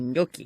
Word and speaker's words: gnocchi: When they give the pronouncer, I still don't know how to pronounce this thing, so I can't order this dumpling. Gnocchi.